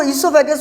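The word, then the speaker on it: oesophagus: इसको ईसोफेगस भी बोला जाता है. ओ इसमें साइलेंट होगा बच्चों, ध्यान रखना, ओ का प्रोनाउंस मत कर देना. स्टार्टिंग तो ओ से हो रहा है लेकिन बोलेंगे इसको क्या, ईसोफेगस.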